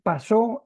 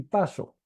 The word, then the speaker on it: pasó: Como decimos, eh, hay una diferencia entre decir pasó y paso. ¿Sí? ¿Por qué? Porque pasó lleva tilde en la O, ¿verdad?